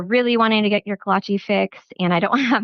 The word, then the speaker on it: kolache: Kalachi is spelled K O L A C H E just like it sounds.